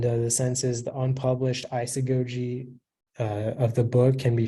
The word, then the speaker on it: isagogy: hi your word is isagogy I still go to am I saying that correct sounds fun may happen but the word is isagogy it's a noun and it's Latin from Greek